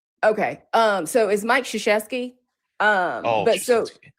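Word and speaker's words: Krzyzewski: Um, but yeah, basically everybody there could pronounce his name. Shasheski. You can't spell it because it's like 13 letters in his name, but Shasheski, you can say it.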